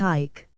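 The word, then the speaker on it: eik: after him the name of ik which is pronounced ik and is Dutch for Oak when before his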